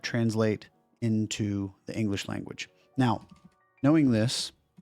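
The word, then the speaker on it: Н: into the English language now knowing this a letter that is very different in our language is the H and in in in Russian it is pronounced n or n all right knowing this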